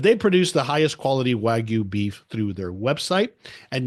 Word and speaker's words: Wagyu: I think I'm pronouncing that right? Wagyu?